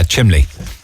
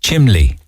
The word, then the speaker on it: chimney: and they're talking about blah blah blah blah chimly and i always smile not in a kind